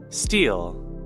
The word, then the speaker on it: stele: I don't know how to say it, a stele? Steel.